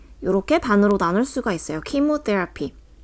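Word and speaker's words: chemotherapy: 켜지는데 여기서 4번에서 는요 우리 흔히 알고 있는 k 라는 발음 처럼 발음이 돼요 그래서 킴 웃대 lp 요렇게 반으로 나눌 수가 있어요 키모 테라피 때 앞이라고 하는 것은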